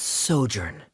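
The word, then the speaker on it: sojourn: Uh, director Zosimos, how do you pronounce this word? Let me see. Ah, that's Sojurnn.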